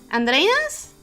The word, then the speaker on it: Andreas: I pronounce it that way because I'm my native language is Spanish, so my first impulse when I see an R like that is to pronounce it like in Spanish.